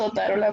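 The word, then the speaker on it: Otárola: Es Otarola, profe, con acento en la primera.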